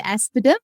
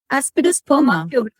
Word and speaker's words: Aspidosperma: Did you say aspidum? I haven't heard of that remedy before. Aspidosperma. Yeah. Yeah, aspidosperma. Sorry, I pronounced No, that's fine.